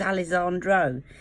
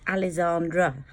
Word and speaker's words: Alessandra: Alexandra a whiskey angel Alessandra I keep I thought it was Alessandro it is Alessandra so apologies if I've